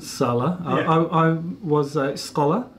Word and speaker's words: Salla: Is it Salla or Salla? I pronounce it Salla.